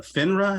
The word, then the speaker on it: FINRA: And so right now, Kevin has his FINRA. Am I not pronouncing that correctly?